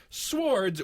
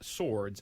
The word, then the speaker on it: swords: one of you guys pronounced the word swords with a W instead of leaving it silent. Swords instead of swords.